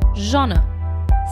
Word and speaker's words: genre: so the correct initiation of the word is genre cinematographer is a person who directs photography and